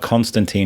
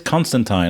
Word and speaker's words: Constantine: He says Constantine. And he's like, "It's not like a tomato tomato thing." He goes, "No, there was one thing where he says it rhymes with Clementine."